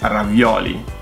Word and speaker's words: ravioli: Ravioli. You guys put the accent on the wrong vowel. It's not ravioli. is ravioli. It's on the O.